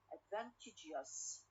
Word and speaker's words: advantageous: Stress on the second syllable, على advantage. When I add us, okay, advantageous. So here we move the stress from the second to the third one, for example.